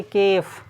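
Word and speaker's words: calf: के केफ नहीं है एल भी इसमें नहीं बुलाएगा जिस प्रकार से के साइलेंट था चुप था इसमें एल क्या है साइलेंट है इसको पढ़ेंगे केफ केफ माने होता है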